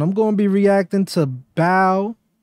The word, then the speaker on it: BAO: gonna be reacting to bow I believe that's how you pronounce it bow Joey late nights just